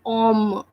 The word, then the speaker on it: homme: That's why we are not reading or we are not pronouncing the letter H, and we are just saying om.